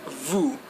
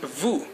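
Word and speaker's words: vous: of the first person okay now we have Vu which probably is the most famous personal pronoun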